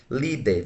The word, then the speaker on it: líder: Letra A eu tenho líder, veja, líder, uma, duas. O acento está na penúltima, sendo ela então uma paroxítona.